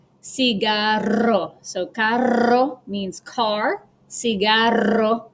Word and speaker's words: cigarro: This makes a rolling R sound, which we don't have in English. And example is carro, cigarro.